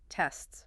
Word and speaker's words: tests: Your tongue does a very subtle rapid movement for that T sound, flicking up briefly between the two S sounds. And there's a slight burst of air emphasis needed for each consonant sound. It's not a big obvious tongue movement, but it's important that all three sounds are subtly present.